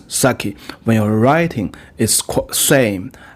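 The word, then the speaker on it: 酒: to describe sake so the pronunciation in Japanese is sake when you're writing is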